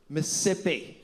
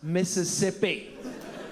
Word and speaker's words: Mississippi: McNally, it is not Mississipi. It's Mississippi. You're costing me an entire syllable of hydration with your pigeon English.